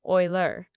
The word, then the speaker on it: Euler: to American viewers that the way you pronounce this sampler name is oiler.